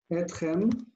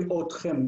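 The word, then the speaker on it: אתכם: Etchem. Most Israelis will say otchem because they just leave it ot, so they say otchem, otchem. But it's technically incorrect.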